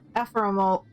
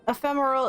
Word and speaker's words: ephemeral: effects will be but affirmative ephemeral how do you say this word ephemeral i was not close oh but ephemeral it'll bother the elegant